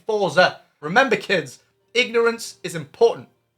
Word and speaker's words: Forza: So the most demanding game I've got as of this moment is Forza Horizon 5. And yes, I know it's pronounced Forza.